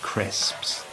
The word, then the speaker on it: crisps: Lots of learners have trouble pronouncing the word crisps, and the secret is to make the first S sound really long like this, crisps.